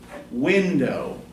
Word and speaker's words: window: Window. Would that be an iamb or a trochee? That'd be tricky. Yeah. Okay. You say the first syllable more forcefully, right?